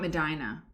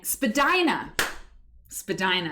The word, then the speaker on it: Spadina: And Spadina. That was what it was. It wasn't Medina, it was Spadina.